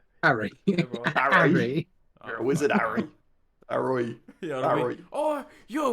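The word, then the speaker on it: อร่อย: Anyway, Arroy. Oh, Roy. Bro, my pronunciation off by 100%. But A-ROI. Arroy.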